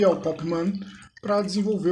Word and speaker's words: Mhan: E pelo que eu pesquisei, a pronúncia correta é Man mesmo.